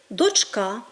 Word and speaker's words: дочка: дві доньки п'ять доньок слово дочка у всіх відмінках форм однини крім кличного має наголос на другому складі тому говорімо дочка дочки дочці дочкою але